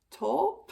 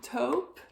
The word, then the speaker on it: taupe: but it's I think it's kind of to top taupe taupe sorry about my pronunciation so it's like a grayish or no